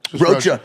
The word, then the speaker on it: Rocha: Rocha. Rocha.